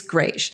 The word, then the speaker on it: greige: Somebody said that I was saying it wrong, but I'm not saying it wrong. I took French for many years, so I know it's Greige.